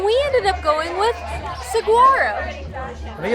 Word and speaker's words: Saguaro: I think the G is more of like a W sound.